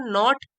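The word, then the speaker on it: knot: better to टाई अ नॉट इन इट तो नॉट का मतलब के साइलेंट है इसमें नॉट का मतलब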